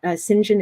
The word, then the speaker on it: St John: I should say that singen is St John but um this is British pronunciation so as I tell my students you have to pretend that it's pronounced s i n j i n singen the most extreme